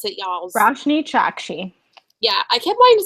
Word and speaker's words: Roshani Chokshi: of wishes by rashne chaki that's how you pronounce it y'all rashne chaki yeah I kept wanting to say chakki but Chi ch ch ch yeah okay that